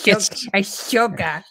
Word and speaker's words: Ahsoka: Yeah, it's Ahsoka. Ahsoka. I haven't seen it. I'm going to watch it, I promise. Yeah. Man, that is a loaded question. Is the Ahsoka worth watching?